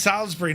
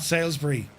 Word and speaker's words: Salisbury: It's pronounced Salisbury, not Salsbury.